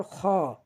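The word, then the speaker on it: خ: এরপর খ, খ, খ, খ আমরা হলকের শেষ হইতে উচ্চারণ করব, খ।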